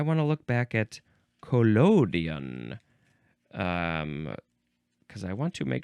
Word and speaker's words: collodion: And I want to look back at collodion, because I want to make sure I am pronouncing that in the proper manner of pronunciation.